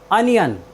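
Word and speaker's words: onion: अंत में आया है इसलिए हमने ओ का उच्चारण ए किया है साथियों चलते हैं अपनी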